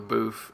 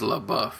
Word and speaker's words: LaBeouf: heat kiss for years I insisted on column Shia LeBouf and there was a lot of defenders of great cinema that came after me it said you say his name with respect you say it the right name he is LaBeouf I'm like then why